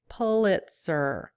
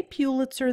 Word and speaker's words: Pitzer: here because I know many of you are cringing every time I say Pitzer let's set the record straight you can go to Pitzer .org /faq one of their frequently asked questions is about pronunciation Pitzer this is straight from their site so start trying to retrain your brain on this one if you say Pitzer though no biggie we can still be friends back to the topic